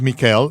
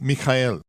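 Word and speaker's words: מיכאל: es como él es migel en ruso Miguel en español y Michael en inglés hay diferentes pronunciaciones dependiendo de los sonidos comunes de la lengua nativa pero el nombre sigue siendo mijael cuando hablo de shaul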